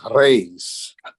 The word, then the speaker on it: Reis: My family's from Cape Island in Portugal, and Americans, we say Reese, but they would correct me. It's Reis.